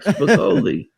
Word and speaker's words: Spicoli: Spicoli. I don't know how we pronounce it, but welcome to the show. You got it right. Spicoli.